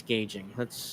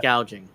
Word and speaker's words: gouging: But yeah, by the way, Kamala, it's not price gauging. Price gauging on food. It's price gouging.